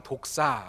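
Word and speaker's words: δόξα: 라는 말이구요 헬라 울음은 독사 뭐 우연하게 제 발언이 독산 모도리 등 된 뭐 비슷한 건데 여기서 그 의미는 아니구요 원어 발음 이 독사 라는 것입니다 그런데 이 카 보드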